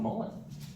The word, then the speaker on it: mullein: other plants all right so any questions about Mullen verbas FIS is it spell m o l e n it is spelled m u l l e i n